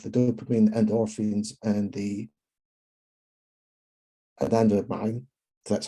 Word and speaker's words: anandamide: And then when I come back to it, I get the good stuff, the dopamine, endorphins, and the anandamide, that's how you pronounce it, which allegedly do the good work against the plaques that are building up in the brain.